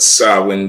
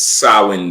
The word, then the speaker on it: Samhain: you to look up to all right but sawin day it's you know how to spell it Sam it's spelled Sam ha but it's sawin day right it's pronounced SS day yes